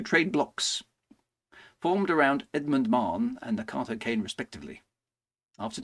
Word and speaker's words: Mahon: won by supporters of Mahon. Okay, so there's been a oh, it's just Marn. I keep getting that wrong. Sorry, WGB. Marn. Yeah, I mean, why pronounce it how it's spelt, right?